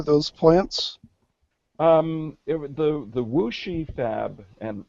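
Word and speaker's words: Wuxi: plants um the the wooshy Fab and that's how it's pronounced despite how it it looks in print um that Fab was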